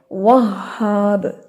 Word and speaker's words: وہاب: یہ لفظ ہے وہاب، ہاں پہ تشدید ہے، 2 دفعہ شدت کے ساتھ یہاں پہ ادائیگی کرتے ہیں ہم.